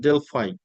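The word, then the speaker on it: Delphi: system question questionnaire system it is known as the dely method or the word also sometimes pronounced Deli so dely method is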